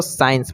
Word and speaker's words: science: चलिए एग्जांपल ले लेते हैं, जैसे साइंस, SCIENCE, तो यहाँ पर सी साइलेंट रहेगा क्योंकि एस के बाद सी आया है तो यहाँ पर सी साइलेंट रहेगा, तो यहाँ पर साइंस पढ़ेंगे।